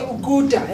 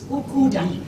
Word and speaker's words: ukuda: But from here, I could only hear Uguda. And that's why I was like, Ukunda. there you go again. Uguda. But it's Ukuda.